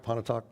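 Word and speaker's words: Pontotoc: Museum today in in uh Richmond Virginia the panot talk did I pronounce that right Pon talk okay good the pon talk a minute men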